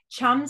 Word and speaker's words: chum: simply use your hand chum salmon rhymes with thumb your your pointer finger